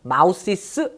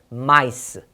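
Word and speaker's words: mice: 이럴 때는 마우시스 아니에요. S 안 붙여요. 요거 많이 속더라고요. 마우시스 없고요. 마이스. M-I-C-E입니다.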